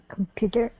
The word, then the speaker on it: computer: Computer, the second one.